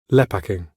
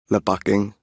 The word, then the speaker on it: lepaking: And you can hear this when we compare British and Singaporean Malaysian Englishes in this entry. Lepaking. Lepaking.